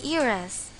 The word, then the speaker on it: heiress: There are instances when h is a silent letter. Examples: you still have an hour left, and she is an heiress. Notice that in these sentences, although h is a consonant, we didn't use the article a.